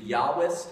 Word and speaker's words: Yahwist: J P and D the yahwist and and we hear that as a y but Germans came up with it so they spell it with a J so the j e